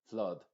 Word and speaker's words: flood: que aprenderte es que no pronuncies esta vocal con una a muy abierta es decir No es flat blad no así sino que abre un poquito solamente la boca y terminas diciendo flood flood es como que